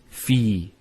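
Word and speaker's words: في: So the first word is fi. So you notice there's the elongation, the long vowel.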